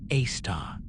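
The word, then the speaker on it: Sagittarius A*: The one at the heart of our galaxy is called Sagittarius, a asterisk, pronounced a star.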